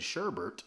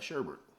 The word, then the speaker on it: sherbet: Supposed to be sherbet. That's actually what it is. But because we said sherbet enough times, which was an American mispronunciation, now we have sherbet. But if you look at the country of origin, which I believe is England, it's sherbet. There's no second R.